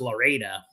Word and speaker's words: Lorida: And it took years for me to run into someone because it's kind of a ghost town who went, it's pronounced Loretta.